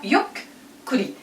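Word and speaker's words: ゆっくり: Yukkuri. Yukkuri. Quand il y a deux consonnes comme ça, on doit répéter.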